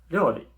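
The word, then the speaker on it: 料理: Esto es ryori. Ryori. ¿Os acordáis cuando ponemos la yo pequeñita al lado de la ri? Pues se hace ryo. Entonces, ryori.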